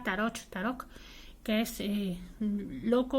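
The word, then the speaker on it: Tarock: Una sería la palabra tarok, acabado en ch y pronunciado más o menos como una k, tarok, que es loco o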